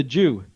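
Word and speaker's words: Jieux: For the past 20-something years, there's been a Jewish crew called Crew de Jew, or Crew du Jew, which is spelled J-I-E-U-X, which is the New Orleans or French way of spelling it.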